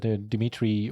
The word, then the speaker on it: Dmitry: We got a team pro player, Dmitry Urbanov. That's indeed how you pronounce it, first name.